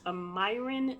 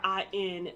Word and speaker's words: Meyrin: Yes, it's located at I believe I'm pronouncing this correctly. It's Meyrin, Switzerland, or Meyrin, Switzerland, Meyrin, Switzerland.